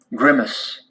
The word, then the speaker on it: grimace: at grimace grimace okay accent is on the first syllable agreements agreements grimace grimace grimace grimace grimace